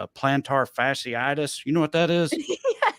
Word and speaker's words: plantar fasciitis: doesn't sound weird so it's i think it's plantar fasciitis plantar fasciitis google has lied to me you know you look up with the like phonetic pronunciations for things where they put uh like by syllables yeah yeah yeah well when you look at it like that it's like playing tar fashion or whatever and you just put